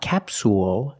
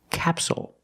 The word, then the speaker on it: capsule: word is capsule again the stress is on the first syllable so the second syllable is short it's not capsule it's capsule with a dark L at the end capsule so we see